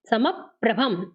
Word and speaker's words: समप्रभम: पद्म राग समप समप्रभम, इसमें हल्का सा पा का उच्चारण आएगा, समप्रभम।